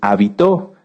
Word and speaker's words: habitó: muchas definiciones de hecho si cambiamos el acento de la palabra hábito lleva acento en la a se refiere a esto a nuestras costumbres y si lo cambiamos hacia el final es habitó que viene de habitar fíjense que cómo en